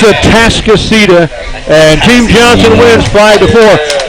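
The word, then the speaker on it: Atascocita: Atascostia. That's what I said, but it's wrong. It's a Tascasita, and Team Johnson wins 5-4.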